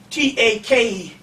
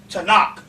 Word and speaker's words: Tanakh: It's pronounced Takana, Tanakh. It's pronounced Takana in the English with the way it looks, but it's pronounced Tanakh.